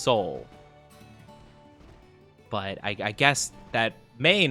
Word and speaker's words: Tso: they call well, like I've always heard it as General So, but apparently in some places it's pronounced General Tao. And then in some, it's actually pronounced General Gao.